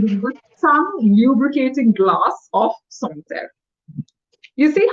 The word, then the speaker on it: Sancerre: By a glass of Sancerre. It's not Sancerre, it's Sancerre. This is a French wine.